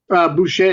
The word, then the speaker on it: Boucher: have ready wait is it boo cher am I saying it right Boucher you know is in Bobby Boucher from the waterboy you know all these